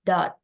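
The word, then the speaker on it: doubt: hilang all his dot ini bacanya dot dot ya artinya keragu-raguan b-nya gak dibaca b-nya silence all all his ya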